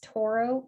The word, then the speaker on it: Tauro: torah website so it's toro capital advisors dot com taro is spelled t-a-u-r-o uh and then you